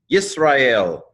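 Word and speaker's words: ישראל: Yisrael, yod, hirik, seen, silent schwa. This syllable's closed. Yis, resh, kamatz, aleph, sere, lamed, yisrael.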